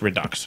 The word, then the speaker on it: Redux: I think it should be pronounced Redo. I think the X should be silent, but apparently it's Redux.